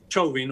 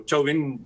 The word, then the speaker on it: Chauvin: este juicio de a Derek Chauvin, o Chauvin, según como quieras pronunciarlo, pero Chauvin en castellano, es muy emblemático.